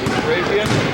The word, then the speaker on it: Karajian: All right, this is Karajian. How do you say last name? Karajian? Karajian? Thank you. I was close, ladies and gentlemen. It's Karajian. Lyle does his job.